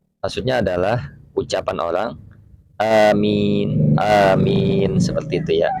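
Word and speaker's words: آمين: Bitakhfif, dibaca ringan. Amin, amin. Nah, jadi di takhfif itu ya tidak ada tasdid, ringan dibacanya, amin, bukannya amin, bukan seperti itu, tapi amin gitu. Wal maddi, dan panjang, wal maddi, dan panjang, amin.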